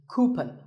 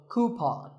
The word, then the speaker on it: coupon: A common incorrect pronunciation is coupon, but the second syllable should be pawn, so coupon.